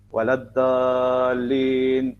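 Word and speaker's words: وَلَا الضَّالِّينَ: Satunya orang akan sebut waladhdallin. Nak sebut dha tu susah. Okey. Kita tak waladdall.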